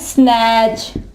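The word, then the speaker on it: snatch: पढ़ा जाएगा इसके अलावा इसके एग्जांपल है स्नैच स्नैच ठीक है यहां भी देखिए टी आया हुआ है लेकिन टी आवाज नहीं देगा अगर टी के बाद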